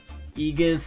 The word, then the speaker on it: Aegis: It's pronounced Aegis, Aegis, but I have no idea.